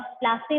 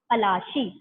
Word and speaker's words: Palashi: और इस जगह को, इस बैटल को बैटल ऑफ प्लासे बोला जाता है। क्यों बोला जाता है, because of the anglicized pronunciation of Palashi.